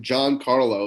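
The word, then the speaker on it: Giancarlo: the video by uh he actually pronounces his name John Carlo it's uh g i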